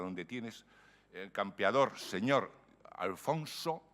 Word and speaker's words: Alfons: tienes el campeador señor alfonso y alfons que es como suponemos que se pronunciaba el castellano de la época de cantar si rima sin a